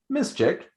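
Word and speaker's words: Miszczyk: sure i get the spelling completely correct it is spelled m-i-s-z-c-z-y-k now this artist miss chick is actually one of our best friends in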